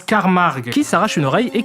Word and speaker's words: Carmack: Le professeur Carmack. Non, ça se prononce Carmarg, qui s'arrache une oreille